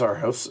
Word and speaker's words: Aarhus: So apparently it's Aarhus.